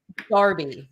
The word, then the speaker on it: Derby: like the word yeah Darby how would you spell Darby oh god oh it's a trick question isn't that dirt probably d-e-r-b-y again yeah there's a town here called Darby but it's spelled Derby